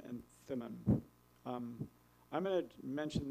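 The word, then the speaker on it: Thummim: the Thum and um the closest I'll try the best I can but what I got was it's more like or and Tom would be the more correct Hebrew pronunciation so this concludes the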